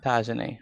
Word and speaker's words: Tajane: And where is, that's how you pronounce the name? How you pronounce the name again, Ms. Russell? Pronounce the name for me. Tajane? Yes, sir. Tajane. Okay, good.